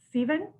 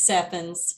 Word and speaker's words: Stephens: For special events, we have Melissa, and I'm hoping to pronounce it right, Steven? It's Stephens.